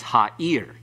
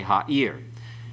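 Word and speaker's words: הָעִיר: And be careful about that. I may have misled you in that the way I pronounced it myself, getting sloppy here. It's ha'ir. The accent's on the last syllable. Okay, ha'ir.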